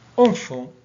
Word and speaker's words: enfant: Exemple, enfant, le T ne se prononce pas.